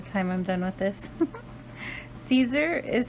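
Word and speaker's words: Siser: remember by the time I'm done with this Caesar is how it's pronounced but it's written it's spelled that's the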